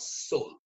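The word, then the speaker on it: Seoul: of South Korea you it's written s e o u l but you typically pronounce it as Soul all right so let's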